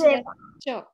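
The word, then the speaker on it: caivāham: Even though there is C, we pronounce Chaivaham.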